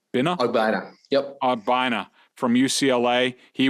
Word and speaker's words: Ogbonnia: How do you pronounce his name? Ogbonnia.